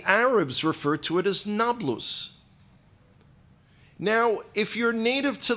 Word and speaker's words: Nablus: land have a diff they can't pronounce the P the the P and the B are are are confused by them so they couldn't call